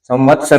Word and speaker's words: संवत्सर: संवत्सर लिखा तो यही जाएगा, लेकिन इसका उच्चारण हमें ऐसा महसूस होता है कि वह संवत्सर, संवत्सर, ये वह दो जैसा दिखाई देता है, लिखा यही जाता है, उच्चारण ये संवत्सर होता है।